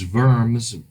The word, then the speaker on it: Worms: that city in Germany known as vermin spelled like worms and 1517 his protest